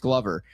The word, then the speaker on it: Glover: It's not Kaden Glover. Kaden, if you're listening, love you, buddy. Your name is pronounced Glover.